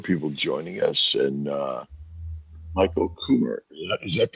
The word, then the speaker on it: Kummer: Well, we We got also a number of people joining us, and Michael Kummer. Is that how you pronounce it, Michael?